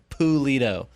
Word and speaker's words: Pulido: Alan Pulido. It literally said in the pronunciation, P-O-O.